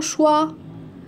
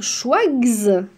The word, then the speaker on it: choix: que je vais lire schwag non Sch non choiss non plus je le lis choix comme ça c'est-à-dire la lettre X ne se prononce pas et un autre exemple